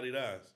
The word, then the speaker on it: Adidas: You know Adidas is not the correct pronunciation, right? No, it's Adidas.